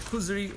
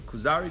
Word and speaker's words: Kuzari: It's a wonderful work called the Kuzri or the Kuzari, depending on how you pronounce it.